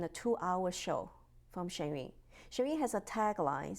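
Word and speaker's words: Shen Yun: Okay, I'm going to let you pronounce that because I don't have the articulation. But that is like a historical. Yes, Shenyun, you will see the 5,000 years of culture in a 2-hour show from Shenyun.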